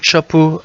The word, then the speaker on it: Chapo: Découverte du jour, j'avais parlé tout simplement de Chapo. Alors ça s'écrit CHXPO.